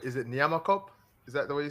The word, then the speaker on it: Nyamakop: Is it Nyamakop?